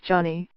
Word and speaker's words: Johnny: France, which knew him simply as Johnny, pronounced with a slight French accent and beloved across generations.